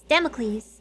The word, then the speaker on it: Damocles: it please damn mcleese it's like hercules with a d democles damocles damocles damn eques sort of democracy it rhymes with socrates the sophocles or the